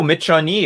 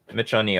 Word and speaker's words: Michonne: Oh, Michonne. Okay, Michonne.